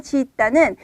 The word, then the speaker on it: 짓다: 자, 우선 시옷 받침의 짓다는 발음을 할 때 중간을 좀 길게 짓다 이렇게 발음을 하시는 게 좋고요.